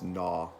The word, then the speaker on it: gnaw: Or the second word is gnaw. It starts with a G, but the G is silent.